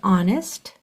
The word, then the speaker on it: honest: our site word is honest that H is silent so here are your